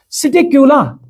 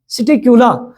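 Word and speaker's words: Psittacula: ना बच्चे number next सिट क्यूला इसमें भाई पी साइलेंट रहता है सिट कूला तो जिसको हम नाम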